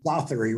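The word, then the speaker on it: misothery: Misottery rhymes with misogyny. Misogyny, misottery.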